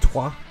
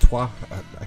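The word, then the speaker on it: Troyes: in that one be I think that's pronounced TWA it's spelled Troys but I think it's pronounced twah correct me if I'm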